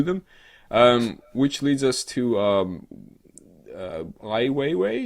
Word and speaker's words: Ai Weiwei: Which leads us to Ai Weiwei, is that how they pronounce the name? I believe so.